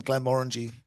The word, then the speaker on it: Glenmorangie: Glenmorangie's, I mean, not just with the name Glenmorangie rhyming with orangey.